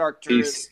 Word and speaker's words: Arcturus: Yeah, that spelling's a little spelling's off on the middle, but you said Arcturus.